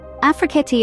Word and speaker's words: Afrekete: Remember, Afrekete is pronounced Afrekete.